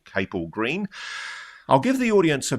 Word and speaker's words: Capel Green: It gets pronounced both ways by different people. I think we favor cable green.